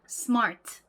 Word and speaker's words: smart: 근데 사실 영어에서는요, 이 앞에 S와 T가 그렇게 존재감이 별로 없어요. 발음이 아닙니다. 그냥 스, 트 이렇게 발음이 나거든요. smart 이렇게 발음을 합니다. 즉 S와 T에는 모음 소리가 없고요. 이 단어에서는 오로지 이 요 모음이 딱 하나 들어있어요. 그래서 얘는 1음절이 된다라는 거죠.